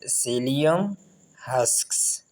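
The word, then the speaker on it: psyllium: यहाँ पर ये जो शुरू में पी आया है, ये पी साइलेंट है, सेलियम हस्क्स।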